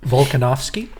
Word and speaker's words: Volkanovski: Volkanovski.